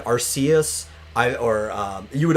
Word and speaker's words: Arceus: i always pronounced it arseas because our use because it looks like it's uh a mixture of like the word arc and zeus right and the way